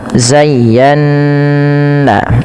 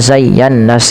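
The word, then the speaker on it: زَيَّنَّا: Nah, pada lafal nun yang bertasydid ini wajib ditahan bunyi nnya karena ia ada bacaan gunah. Karena ada bacaan ghunah sehingga dipantulkan. Maaf ditahan bukan dipantulkan ditahan zayana ya. Beberapa yang terjadi tidak menahannya cuman zayannas gitu ya tapi harusnya ditahan.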